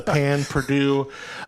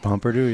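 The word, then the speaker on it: pain perdu: Am I saying that right? Pan Purdue? How do you say that? Pomperdou, yeah. Pomperdou, okay. While it leaned a bit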